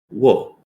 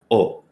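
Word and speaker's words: を: our object marker now normally you would pronounce this character as wo but when you're using it as an object marker you'll say oh so um this is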